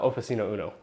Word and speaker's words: Oficino Uno: so why don't you tell us more about oficino Uno am I pronouncing that right first of all yes you